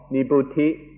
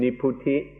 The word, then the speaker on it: nibbuti: The first kind of coolness is called nibbuti, or in the Thai pronunciation, niputi.